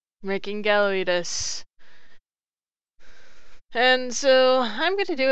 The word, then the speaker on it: Gallawious: Now, you pronounce his name as in gallery, weed, and us. Making Gallawious.